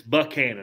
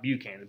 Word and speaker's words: Buchanan: name of james buckhannon and it's buckhannon not beaut not buchanan buckhannon okay that he would he he would correct people if they said buchanan buck cannon muscular white-haired